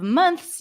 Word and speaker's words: months: like that months but most people especially in American English we drop the th here so instead of months you can say months months many months ago